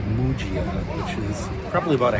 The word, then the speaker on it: Muggia: I did have to ask directions how to get to it, and I said Mia, and they told me it's pronounced Mujia.